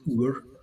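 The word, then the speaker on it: Odhar: We have to pronounce these things properly, but Uar, it looks like Ben Odar, but it's pronounced Ur, and it means like the dun-coloured mountain or something.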